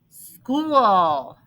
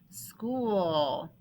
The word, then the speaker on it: school: this one by heart school school pam likes to go to school how many sounds oh school okay now first sound now watch this ch this h is silent that's the vowel digraph